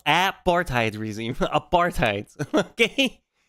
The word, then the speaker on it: apartheid: uh nonprofit agrees that uh Israel is an apartheid regime again apartheid not AAR reime apartheid okay hell bro you can't